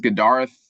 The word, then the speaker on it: Gadareth: Um, Gdarth, that's how you pronounce my my name.